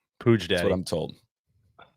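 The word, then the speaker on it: Puig: Is that how you pronounce it? Pooge. That's what I'm told. Pooj day.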